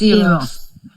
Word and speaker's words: Eros: I can't pronounce the girl's name. Eros. It's Eros.